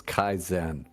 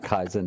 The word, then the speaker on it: Kaizen: pronouncing those words right no Kaizen is definitely pronounced correctly I didn't con Bon's